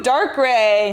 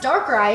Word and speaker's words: Darkrai: Ooh, Darkrai.